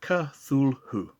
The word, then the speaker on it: Cthulhu: Did you say Cthulhu is pronounced Cthulhu?